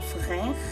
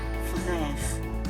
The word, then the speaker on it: frère: This is un frère. Stress at the R.